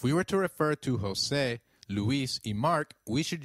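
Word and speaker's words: José: the EI in eight the letter J sounds like H in Spanish so try saying Jose it is Jose you will encounter a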